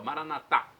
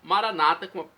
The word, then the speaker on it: Maranata: como dizemos nós católicos com a pronúncia na última sílaba Maranata ou Maranata a tônica na penúltima sílaba conforme diz em nossos